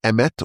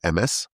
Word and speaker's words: emet: Because the the word truth in in Hebrew is emet or emes. And that's spelled, if you look how the letters are are designed, the aleph has two legs.